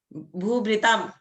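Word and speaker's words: भूभृताम्: जब म के नीचे रेफ लगा देते हैं ना, तो उसको उच्चारण बहुत स्लोली करते हैं, आधा की तरह। भूभृताम ऐसे करके, उसमें जोर नहीं देते हैं, उसको बहुत लाइटली बोलते हैं हम लोग।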